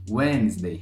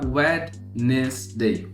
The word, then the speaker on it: Wednesday: comum a gente falar wednes day wednes day wednes day é obviamente a pessoa vai te entender também igual que as outras aqui mas a gente coloca esse D né Na hora da pronúncia isso porque tem na